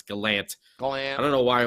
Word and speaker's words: Gallant: it right right yeah I still want to say Gallant but I know it's Galant I don't know why